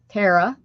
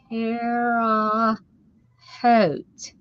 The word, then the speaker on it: Terre Haute: Tara. No, that's not right. Tara is not right.